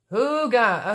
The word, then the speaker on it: hygge: feel terrible i keep screwing it up um hooga okay thank you lisa you're just a bomb